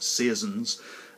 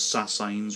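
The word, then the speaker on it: sasine: consequence of that including the very famous but very often badly pronounced seasons and you'll often hear them pronounced as signs or signs and some other godforsaken term that's just not right so I'll explain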